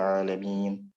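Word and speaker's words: العالمين: Alhamdulillahi Rabbil Alamin. Bukan alamina, tapi alamin, berhenti.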